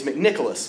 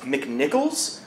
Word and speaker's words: McNicholas: Because if you already forgot it, it's McNicholas, which is like an Irish Santa Claus. But if you read it on a piece of paper, you might think that it's pronounced McNichols, which is like a shitty idea for a McDonald's-based currency. And so it just warms my heart that they always say it properly.